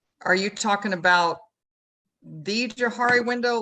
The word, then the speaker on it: Johari: the Johari window are you talking about the Jahari window like in like like what's known to me or and what's known to others and the facade and things like that Johari is it's it's spelled j-o-h-a-r-i it's a fascinating little Tool uh